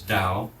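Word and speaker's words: 道: That is we heard some of these last week the way which in Chinese is dao. If you wanted to spell that properly it's t ao da that's uh an older system.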